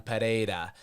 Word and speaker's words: Pereira: Hill versus Alex poan Pera and don't use an H when you say his name Toby or I will break you because it's the wrong way to say it it's p or know